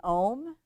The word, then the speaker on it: Om: We're going to close by chanting Om, A, U, M, and then a silent final syllable.